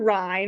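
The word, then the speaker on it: Rinne: to start with the ren sometimes called the Ry or the Renny I've heard it pronounced either way I say the ren or the Rind so this tests for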